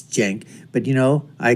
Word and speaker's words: Cenk: and I would just basically want to tell sank and I know how the name is pronounced it's Jen but you know I call him sank anyways